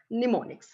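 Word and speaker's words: mnemonics: those techniques is pneumonics m is silent there we pronounce it as pneumonics so what are pneumonics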